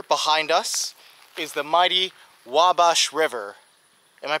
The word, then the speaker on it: Wabash: can see here behind us is the mighty wabash river am i pronouncing that correctly okay now i remember it's the wabash river so here the wabash river is one